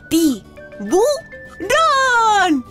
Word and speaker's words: tiburón: agudas Como por ejemplo japonés japonés o tiburón tiburón Ay qué miedo me dan Bueno ya sabemos